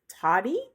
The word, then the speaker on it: Tody: I got this new cleaning app called Toddy, I think is how you say it. It's TODY.